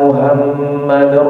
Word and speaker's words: Muhammad: kadang-kadang kalau kita perhatikan ternyata baca Muhammad itu salah itu muadim harusnya Muhammad pakai hak kecil dibacanya Ashadu anna muhammadar rasulullah ternyata muhammadnya dipakai diganti sama apa haknya men jadi hak Besar Muhammad jadi Muhammad nabinya Siapa nabi nabi kita siapa Muhammad pakai hak gede harusnya hak hak kecil Hayya